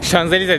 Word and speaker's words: Champs-Élysées: Burada Champs-Élysées diye yazıyor. Şuraya yazmışımdır zaten. Şanzelize diye de okunuyor.